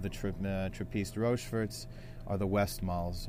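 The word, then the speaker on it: Westmalle: And to the right of the trapeze rovers are the west malls or the vest mall as they call them sometimes in Europe pronounced but really uh probably one of the most uh well-known of the Belgian ales.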